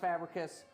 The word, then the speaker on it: Fabricius: This is a show about how to pronounce my last name correctly, which if you see it written out, would be a problem to pronounce, but it's pronounced Fabricius.